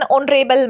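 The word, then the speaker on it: honourable: वो है यहाँ पे ऐसे वर्ड्स जिसमें एच साइलेंट होता है, जैसे an hour, an honest person, N ऑनरेबल मैन।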